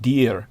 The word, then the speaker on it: Dir: Yes, he was in the Valley of Deer. That's spelled D-I-R, but it's pronounced deer like the animal.